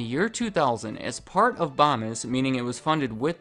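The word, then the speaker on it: Bomis: I know it's pronounced bomb is because under their frequently asked questions they tell me that bombis rhymes with Thomas right above does the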